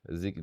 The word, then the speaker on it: Ziggy: Ziggy, that's how they say it.